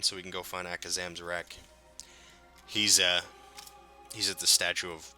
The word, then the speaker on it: Akazamzarak: His talent, that's right, Akazam, I said that shit without even looking, I said his name wrong so many fucking times in the beta, so, Akazamzarak.